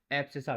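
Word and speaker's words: abscissa: एप्सिसा। क्या बोलते हैं? ए बी एस सी I double S ए।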